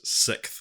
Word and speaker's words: sixth: is pronounced s-i-k-t-h so you're not actually putting like the S sound of the X in there so it's it's a